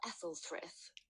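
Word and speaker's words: Æthelfrith: And little Ethelfrith was too much of an absent-minded. So you don't pronounce the A.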